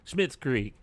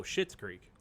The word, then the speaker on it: Schitt's Creek: back, Schmidt's Creek. No, Schitt's Creek. Oh yeah. Yeah. Oh yeah, it is Schitt's Creek.